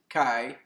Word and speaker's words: Qi: Qi energy, or some pronounce it Kai energy, is the energy of life in the philosophies of Asia.